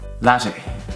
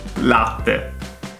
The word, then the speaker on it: latte: So here you will see a pattern of double T's that are not actually pronounced, or in American English they turn into a D for some weird reason, and that's not the case. Like, double T is double T, T.